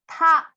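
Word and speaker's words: 他: for he she it all of their pronunciations are the same which is TA first tone ta ta and you guys you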